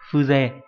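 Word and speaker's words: 風情: là Phư trường âm và Jo đâu, mà đọc là Phư, Phư không trường âm đúng nhỉ, Fuze.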